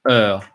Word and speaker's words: Ö: And this one is pronounced Ö. Å, Ä, Ö.